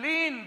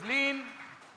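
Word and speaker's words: lien: And how would you spell that? L-I-E-N, lean. That's the right answer. Well done. It is lean.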